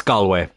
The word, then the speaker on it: Galway: Actually, speaking of Irish teams or Irish places that get mispronounced, Galway is a common thing that I hear. It's Galway. Just want to say that.